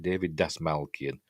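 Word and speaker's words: David Dastmalchian: David Dasmalkian, that's how you pronounce it. David Dasmalkian, Polka Dot Man from Suicide Squad, and also the voice of Michael Ironside as well.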